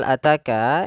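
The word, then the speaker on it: أتاك: lafal ataka pada lafal ataka ini ada huruf ta yang berharakat fathah bertemu dengan alif maka kita panjangkan dua harakat maka hal ataka maka jangan sampai terlalu panjang jangan Cukup dua saja ya sahabat kondisi yang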